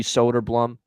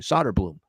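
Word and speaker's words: Söderblom: net here uh it's probably going to be solder Blum for Chicago Arvid s solder Blum solder Blum is how they say it actually solder Bloom solder Bloom is how they say it actually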